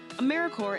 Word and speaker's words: AmeriCorps: make that same mistake americorps is alive and well just spelled with a silent p so think of apple core or core of the earth now that we have